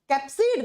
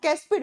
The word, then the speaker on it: कैप्सिड: कैप्सिड बना हुआ होता है बच्चा, कैप्सिड, नॉट कैस्पिड।